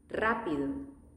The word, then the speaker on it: rápido: Strong sound again. Rápido.